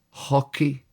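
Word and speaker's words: hoci: Hockey is hockey, believe it or not. H O C I.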